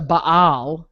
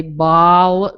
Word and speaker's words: Baal: And see, the Catholics again stretch the Baal. Yeah. And the Protestants either say Baal, like they kind of stretch it, or Baal. Baal.